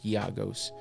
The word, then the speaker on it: Giagos: Even though it looks like Giagos or Giagos, it's Giagos.